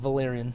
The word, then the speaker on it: Valyrian: Valyrian.